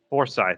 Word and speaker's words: Forsyth: zooming super troopers there you go okay or f-o-r-s-y-t-h forsyth foresight yeah we stopped in foresight it's about halfway